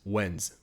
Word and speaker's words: when's: If you say it with an S, it'll kind of have a weird, cut, not quite natural sound. When's. As soon as you say it like that, it doesn't quite sound like a native speaker. So make sure to have a Z noise.